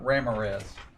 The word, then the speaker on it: Ramirez: They were twins, and their last name was spelled exactly the way Ramirez is spelled. And they pronounced it Ramirez. Just saying. So when I was young, I thought that name was Ramirez.